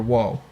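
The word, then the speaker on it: を: ru, re, ro, wa, and o, or wo. So it's this one can be pronounced. It's mostly o, as in like ho, and then this is like like the n.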